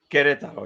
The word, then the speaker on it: Querétaro: Querétaro. Is that the way I pronounce it, right? Querétaro? Querétaro, yeah. That's very good.